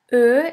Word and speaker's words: Ö: Ö is pronounced like the word flirt or the word girl.